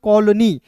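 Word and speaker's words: colony: पढ़ते हैं ना तो यहां पे ओ का उच्चारण औ के रूप में हो जाता है और अंतिम में वाई आता है तो इसका प्रयोग बड़ी ई के रूप में कर लेते हैं।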